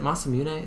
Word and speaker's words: Masamune: Is it Masamune? Is that how you pronounce it? It is, yeah.